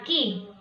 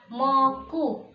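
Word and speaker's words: 木: Jadi dia kalau berdiri sendiri dibaca ki. Apabila dia dengan kanji yang lain, berpasangan dengan kanji yang lain, maka dia dibaca moku ataupun boku. Ya, kalau dia berdiri sendiri seperti ini, bacanya ki. Kalau dia sama temennya dibaca moku atau boku.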